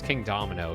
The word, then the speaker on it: Kingdomino: I pronounce it King doi doino. Doino. Why would it be doino? Yeah, it's And everyone was like, "It's King Domino." Yeah, it's King Domino because the pieces are like dominoes.